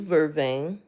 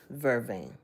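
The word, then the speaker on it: vervain: So, but actually the herb of the day is blue vervane.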